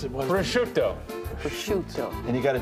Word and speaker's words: prosciutto: Dry-cured ham, prosciutto, and country ham can be safely... What did you just call that? Prosciutto?